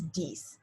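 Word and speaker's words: dix: nine is nif and ten is diese so dies and cease ram with each other so all together that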